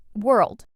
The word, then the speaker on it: world: Word number 9, world. This one's small but tricky. Some learners add an extra sound between were and erled, but it's just one smooth sound, world.